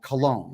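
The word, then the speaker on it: Colón: There is a city at the north end of the Panama Canal called Cologne. It's spelled C O L O N.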